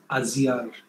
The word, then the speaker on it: Aliyar: This is the Aliyar Dam, which is actually spelled, it is spelled Aliyar, but pronounced Aziyar in Tamil.